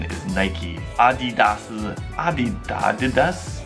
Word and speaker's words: Adidas: correct pronunciation is Nike Adidas is a be doggedness the correct pronunciation for this german brand is actually adidas adidas however in the u.s.